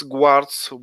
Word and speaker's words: guard: We can see a police guards. We can distinguish them by helms, white helms, close to Guards. guards. Guards. Yeah. Air sound will always torture me. Guard. Yeah. The U is silent.